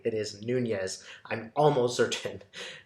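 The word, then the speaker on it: Nuñez: I want everybody to know that I did pronounce his name correctly it is Nunez I'm almost certain not Nunez so I'm just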